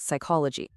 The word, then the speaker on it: psychology: The same thing happened with words from French, like hour, or Greek, like psychology. And sometimes silent letters are just incredibly practical.